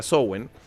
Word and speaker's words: Samhain: Y ahí te das cuenta que Halloween, que digamos en la rueda del año wicano, que se dice Samhain, que se escribe Samhain, pero se pronuncia Samhain.